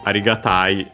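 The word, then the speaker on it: 有難い: By the way, the accent of arigatai is accented.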